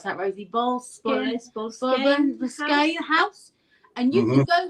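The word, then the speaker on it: Boleskine: And he's got a house, hasn't he, in Loch Ness called the, how do you pronounce that, Rosie? Bolskine house.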